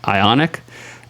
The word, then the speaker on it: ionic: they were doing oh they were doing an ironic mispronunciation like sparrowson thought it was ironic but it's I ionic ionic all right we're [